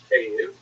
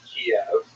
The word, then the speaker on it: Kyiv: they centered around the city of Kyiv. That's the Ukrainian pronunciation, by the way. It's favored today because, of course, Ukrainian is the dominant language in the country, but it used to be called in English Kiev, which is closer to the Russian pronunciation, because Russia dominated much